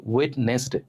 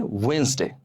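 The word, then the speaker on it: Wednesday: ওয়েডনেসডে, কিন্তু এর উচ্চারণ কি হবে জানেন? এর উচ্চারণ হবে ওয়েন্সডে।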